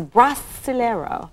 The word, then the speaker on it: Brasileiro: The name of the album is Brasileiro. Perfect. Oh, I did it right. Thank goodness. Now we're going to get another pronunciation lesson.